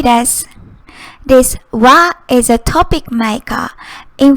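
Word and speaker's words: は: purply pink it's usually written as aha it's pronounced as ha but when it's used as particle it's pronounced and x y y does this va is a topic maker in front of the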